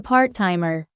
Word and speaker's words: part-timer: The t sound in part-timer is pronounced only once, smoothly connecting the two words. Listen carefully. Eva is not a hotel. You're here. She is a part-timer.